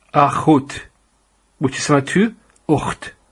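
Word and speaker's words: אח: And this word is pronounced as akh. And in Arabic it's akh. So it's the same word.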